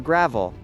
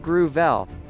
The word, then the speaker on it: Gravel: gruh-VELL, pronounced gruh-VELL, was drawn to politics at a young age